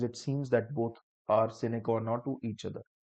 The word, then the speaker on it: sine qua non: Sometimes it seems that both are sine qua non to each other. What did I say? Sine qua non. Sine qua non or sine qua non, the real pronunciation.